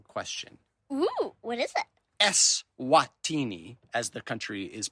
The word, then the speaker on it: Eswatini: Eswatini, as the country is pronounced, is one of the smallest countries in Africa and the continent's last absolute monarchy.